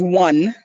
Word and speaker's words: Wane: So my mom is part of that family, and her last name is Wayne, which is one when you really pronounce it.